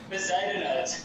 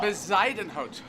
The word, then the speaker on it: Bezuidenhout: So ignore the U in pronunciation. We should ignore the U for us English. Yeah. Bezuiden. And how do you pronounce the H-O-U-T? Hout or hoot? Hout. Which is like the Afrikaans for wood. So, like hout, hurt. Like, oh my word, yeah. So hurt that rhymes with H-E-R-T, hurt, like we'd say, so Bezuidenhout, yeah?